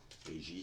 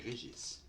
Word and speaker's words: Régis: Régie, c'est Régis. Prononcez le S, s'il vous plaît.